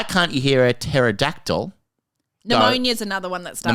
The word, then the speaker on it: pneumonia: Pneumonia is another one that starts pneumonia is another one that's hard, isn't it?